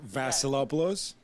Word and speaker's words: Vasilopoulos: it right up say my name last name Vassalo blows that's a lot below got it you guys